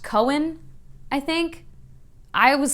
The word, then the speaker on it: Cywen: Oh man, when everyone says that on the audiobook, her name is pronounced Cohen, I think. I was saying Cywin in my head, or Kywin, I don't know. Corbin's sister, I'll say Cohen.